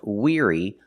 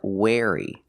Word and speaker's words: weary: about weary that's right the word is pronounced weary not wey pronunciation weary using the long e sound like green beans together with the r ear the sound like ear Weir weary weary is a synonym